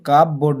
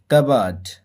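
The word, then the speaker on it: cupboard: করলেন to make কাবার্ড তো এর উচ্চারণটা হবে কিন্তু কাপবোর্ড নয় কাবার্ড to make কাবার্ড কাবার্ড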